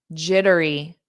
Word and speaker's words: jittery: Question 17, jittery, jittery, jittery. So again, native speakers pronounce T's as soft D's when it's between 2 vowels.